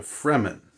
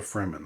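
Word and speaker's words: Fremen: it's f r m-n so it's sort of like free men but but they're the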